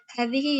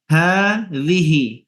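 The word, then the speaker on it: هذه: Meskipun di sini tidak ada alifnya ya, bacanya hadhihi, hanya ada alif kecilnya ya, ada dipanjangin sedikit. Hadhihi, seperti kalimat hadza, menulisnya benar, ha sama za langsung, tidak ada panjangnya, tidak ada alifnya. Tapi membacanya harus dipanjangin hanya.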